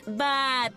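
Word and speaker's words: but: es b u t pero se pronuncia como bat bat muy bien tenemos otro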